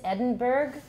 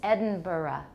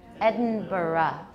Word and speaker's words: Edinburgh: Okay, the American pronunciation is Edinburgh because we don't know how to say it right. But the Scottish or the UK pronunciation is Edinburgh. Edinburgh. You'll add a schwa at the end.